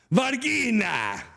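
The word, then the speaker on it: Verina: Varina. Yes, it's spelled like Ve R I N A.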